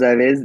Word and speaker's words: avez: Vous avez déjà mangé? And I think I heard that Z sound. You tried to rein it in, I heard, but avez.